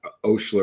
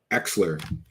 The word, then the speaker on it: Oechsler: That's how you say it, not Oechsler or Eschler. Oechsler.